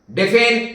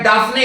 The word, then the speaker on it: Daphne: तो इसका नाम है इस्प्रज लॉरेल डेफेन इंडिका या डाफने इंडिका, कई लोग डेफेन बोलते हैं, जो स्पेलिंग है डाफने इंडिका।